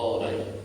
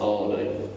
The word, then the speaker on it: Ani: And goes to, there's a place called Ani, that's spelled A-N-I, which was a capital of Armenia,